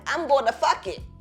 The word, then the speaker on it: Phuket: Because where is the H in Phuket? A lot of this stuff is silent. Yeah, exactly. So it's a silent, and so the PH is a.